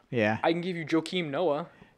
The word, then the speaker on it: Joakim: I can give you Joakim Noah. Joakim, pronounced differently and finished with an M.